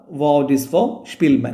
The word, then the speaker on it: Szpilman: ഒരു ജൂതനും ആയിരുന്നു അതുപോലെതന്നെ മ്യൂസിക് കംപോസറും ഒക്കെ ആയിട്ടുള്ളവർ സ്പിൽമാൻ അദ്ദേഹത്തിന്റെ ഉച്ചാരണം പേര് വായിക്കേണ്ടത് വഡിസ് ഫോർ സ്പിൽമാൻ എന്നുള്ളതാണ് നിങ്ങൾ